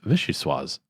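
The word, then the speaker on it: vichyssoise: hot in the united states bishou suas is pronounced vichy sois ordinary historians debate the order of vicious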